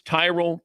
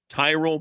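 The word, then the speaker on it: Tyrol: It's Tyrell Pickle Ball Shoes. You spell it T Y R O L. Tyrell Pickle Ball Shoes.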